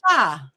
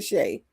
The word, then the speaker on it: Sha: Sha? However way you want to say it. It's No, Shay. I just pronounce it Shay. it's Shay.